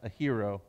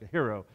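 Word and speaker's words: αἴρει: word is a hero it's a-i-r-e-i but it's pronounced a hero okay like a hero and here's what it means it means this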